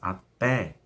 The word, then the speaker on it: até: i também na acentuada mas até é uma oxítona terminada em é a pé então esse até tem que ter um assunto a sílaba mais forte é a última oxítona e a terminada em é então é acentuado e e vamos ver